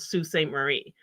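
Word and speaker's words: Sault Ste. Marie: a town in Ontario called Sault Ste Marie but it's spelled salt s-a-u-l-t Saint Marie and there's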